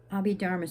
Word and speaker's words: Abhidharma: Abhidharma spelled A-B-H-I and then Dharma.